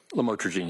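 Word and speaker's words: lamotrigine: the u the lamel, otherwise known as lamatroine. Did I pronounce that right? Lamotraine. Yes. regime and and she said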